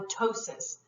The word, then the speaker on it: ptosis: ologist scope ii trip c trophy negly and ptosis the opt is usually eliminated when you start to pronounce it the other thing with trophy it's